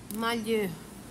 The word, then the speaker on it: malheur: Como é que pronuncia, Carlinha? Malheur.